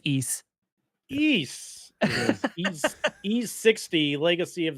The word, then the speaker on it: Ys: Ease.